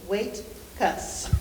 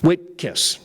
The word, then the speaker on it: Whitekaitis: Whitkiss first. Wait, 2 syllables. Wait-kiss. Whitkiss.